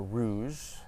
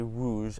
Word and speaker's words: rouge: So rouge, rouge, rouge, rouge, rouge, rouge. So you see how my R transformed very quickly from rouge to rouge.